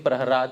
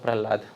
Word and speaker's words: Prahlad: can see the spelling Prahrad instead of Prahlad. The spelling that we know is Prahlad with the la. But here it is Prahrad with the ra. La, ralayo, rabheda. There is non-difference between the syllables ra and la.